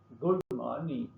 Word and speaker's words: good morning: Good morning. Stress on morning, not good.